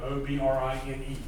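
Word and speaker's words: O'Brine: See, even down here, the post office, O'Brien Station PO, O''Brine. Like brine, like salt with O in front of it.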